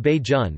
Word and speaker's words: Bajan: are officially called barbadians the term bajan pronounced baijun may have come from